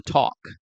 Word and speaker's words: talk: Recordemos que en el verbo caminar, to walk, no se dice la L, no decimos walk, ¿sí? Lo mismo con talk.